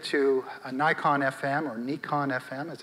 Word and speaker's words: Nikon: i quickly upgraded to a nikon fm or nikon fm as it's properly pronounced i've been a nikon guy nikon guy